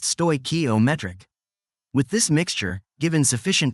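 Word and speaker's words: stoichiometric: The scientist calls this chemically correct combination a stokometric mixture pronounced stokometric.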